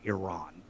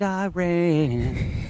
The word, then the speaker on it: Iran: So, one of my biggest pet peeves in the world is people who improperly pronounce Iraq and Iran.